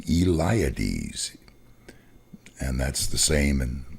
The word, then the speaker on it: Eliades: and his last name eliades and that's the same and well actually in greek eliades is pronounced iliadis so that's all in